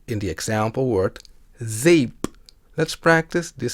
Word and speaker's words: zeep: sound in Dutch is somewhat similar to the a sound in the word say in English we will look at